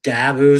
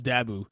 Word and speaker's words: Dabo: I wanted to beat Dabo Sweeney, and it'd be the nail in the coffin in his career there at Clemson. I like how you say his name, Dabu. It's Dabo. You go Dabu.